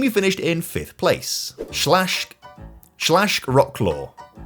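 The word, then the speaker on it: Śląsk: And the team who finished in fifth place, Schlashk Schlashkclaw, or if you maybe say it properly, Schlonesk.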